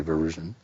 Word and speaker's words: Varoujan: call him V, because not everybody can say Varoujan.